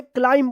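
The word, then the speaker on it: climb: क्लाइम पढ़ना है।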